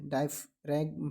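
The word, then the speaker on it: diaphragm: ठीक है, डायफ्रैम है। ठीक है, डायफ्राम बोलिएगा, जी साइलेंट रहेगा यहाँ पर।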